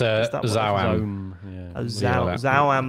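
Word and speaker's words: ZA/UM: Is it ZAUM? It's Zauam. Zauam.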